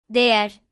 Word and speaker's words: Değer: However, if the word only has the vowel A or the vowel E or the vowels A and E, then you should pronounce it as ye, such as Değer, diğer, eğlenmek, çi.